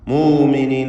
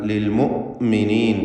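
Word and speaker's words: لِلْمُؤْمِنِين: മുഅ്മിനീൻ എന്ന് പറഞ്ഞാൽ ശരിയാവുകയില്ല, പലരും തെറ്റായി അങ്ങനെ പറയും. എന്നാൽ ലിൽ മുഅ്മിനീൻ എന്ന് കടുപ്പിച്ചുകൊണ്ട് ഹംസയെ ഉച്ചരിക്കേണ്ടതാണ്.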